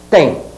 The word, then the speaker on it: têm: tendes eles TM ó eles T com essa pronúncia hein Sem pronunciar dois é hein eles T não tá escrito dois é não Não me pronunciem os dois é eles têm mas eu